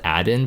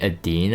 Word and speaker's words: Diene: six uh fire fire i think it's pronounced aden but i've been saying a dean i thought dean was like that the proper pronunciation but regardless the fire